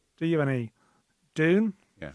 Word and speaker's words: Dune: Do you have any Dune? Yeah. So, not June as Rona Mullen called it.